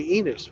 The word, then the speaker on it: Enos: I'm going to Enos, which rhymes with penis.